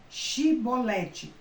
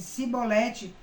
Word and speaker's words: chibolete: se respondesse não diziam Então diga chibolete se eles dissesse se ele dissesse sibolete sem conseguir pronunciar corretamente a palavra prendiam e matavam